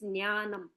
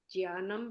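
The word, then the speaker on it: ज्ञानम्: sorry I told you I couldn't type it's ज्ञानम okay so what our teacher said that the pronunciation is ज्ञान ज्ञान right fine से या कैन से ज्ञानम बट आई आई एम not comfortable वि ज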